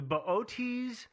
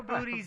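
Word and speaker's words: Boötes: ots i'm not sure i just call it booties myself but i know booties is incorrect no um it's a double star in the ot's constellation uh it's got that what is the little double dot over the e it's got the ooh lot on the second o which makes it so hard to pronounce yeah but what here's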